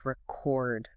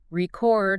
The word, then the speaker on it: record: But record when it's an action. Exactly. Just shifting the emphasis from the first syllable to the second completely changes the meaning.